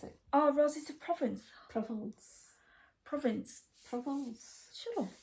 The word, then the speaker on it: Provence: Provence. Provence. Provence. Shut up. It's French. It's Provence. I'm Yorkshire. It's Provence. Provence is spelt with an I, not Oh, an E.